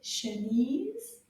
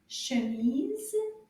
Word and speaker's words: chemise: Chemise, cerise. They both have the ease sound at the end. Can you repeat again? Chemise, cerise.